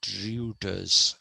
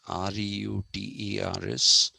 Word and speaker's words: Reuters: hermeneutics because in um, in German, when you write EU together, it is pronounced oi. So even the news agency is not Reuters, Reuters. It's not Reuters, it is Reuters.